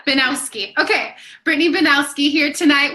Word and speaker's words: Binowski: Am I saying it right? It's Binowski. Yeah. Binowski.